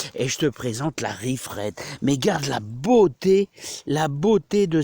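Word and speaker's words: Reif Red: Alors ça s'écrit R-E-I-F-R-E-D tout simplement, Riff Red.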